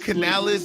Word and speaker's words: Canales: Dave Canales. This is how you pronounce his name.